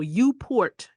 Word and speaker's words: uPort: So I will tell you that tools like UPort, let me spell it for you. Lowercase u, capital P, and port. So UPort.